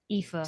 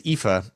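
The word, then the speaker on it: Aoife: probably before we sing pronunciation it says IFA IFA see goodness gracious IFA that's what Google is telling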